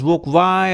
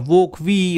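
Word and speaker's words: Wokwi: called as the evokev you can pronounce it as book y or VOC V okay and this is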